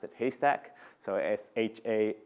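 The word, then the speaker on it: HASTAC: which I actually used to thought it was pronounced hashtag but then Kathy Davidson who runs his community was here last last week or the week before and then her pronounce it haystack so sha s ta see and there's a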